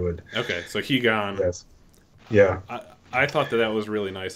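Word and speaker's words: Higan: software emulator is like I thought it was pronounced heigen Corey pronounced it he gone I don't know what's just actually right but I think he GaN is what if you were reading it in like Japanese romanization is how you would okay so he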